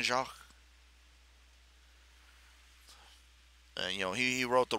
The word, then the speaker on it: Jacques: the Brian Jacques for how do you pronounce that job Brian Jacques say J a c qu es Brian Shaw you know he wrote